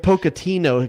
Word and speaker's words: Pochettino: Like Pochettino, a guy named Santino. Pochettino.